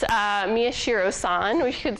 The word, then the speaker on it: Miyashiro: I heard someone say it right so it's Miyashiro son we should say who developed this diagram